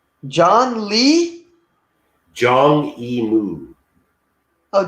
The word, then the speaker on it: Zhang Yimou: It's Zhang Yimou. John Lee? Zhang Yimou. Oh, John E. Moo. Okay, I thought you Yeah, said John. not John, not John. Zhang, like with a Z.